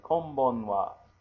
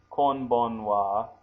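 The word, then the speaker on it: こんばんは: So kom, K-O-M, ban, B-A-N, and then wa, which we're going to write as ha.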